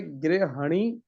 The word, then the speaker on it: गृहिणी: उच्चारण ग्र निकल गया ग्र नहीं है ग्री ग ही गृहिणी ठीक गृहिणी नहीं होता सामान्यता हम बोलचाल में ग्रहणी बोल ते हैं लेकिन गृहिणी उच्चारण भी शुद्ध करना है ठीक है गृहिणी नेक्स्ट